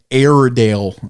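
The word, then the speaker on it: Airedale: An Aidale. It is a It is the King of Terriers. It it's it's like LR. It's not actually air, but it's pronounced air.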